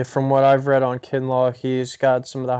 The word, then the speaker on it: Kinlaw: man from South Carolina, I think it's Javon Kinlaw, is how you pronounce his name? Kinlaw.